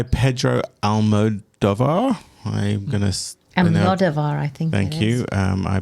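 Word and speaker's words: Almodóvar: Almodovar, I think. Thank you. I put the wrong emphasis on the wrong syllables again, as I often do when I'm not ready.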